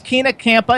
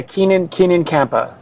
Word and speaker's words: Keenan Kampa: First of all, her name is Keena Kampa. Is that how you pronounce it? Yeah, Keenan Kampa.